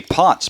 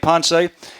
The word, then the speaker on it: Ponce: Felipe's family because all of last year I pronounced his name the way it would appear to me pots but Felipe himself told me several times when I asked him it sponsees though Felipe ponse has been cleared by the doctor according to